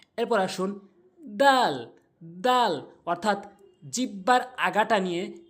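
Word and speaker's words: د: করব খ এরপর আসুন দাল দাল অর্থাৎ জিহ্বার আগাটা নিয়ে জিহ্বার আগাটা ভালো করে বুঝবেন জিহ্বার আগাটা নিয়ে সামনে দুটি দাঁতের আঘাতে লাগাতে হবে যেমন আমার দিকে লক্ষ্য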